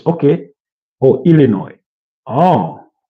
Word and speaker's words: Illinois: Pronounced without the S. Okay. Or Illinois. Oh, Illinois.